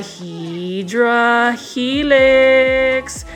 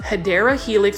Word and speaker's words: Hedera helix: And for those that are watching this video for the first time, I mispronounced Hedera Helix, which is the correct way to say English ivy, as Hydra.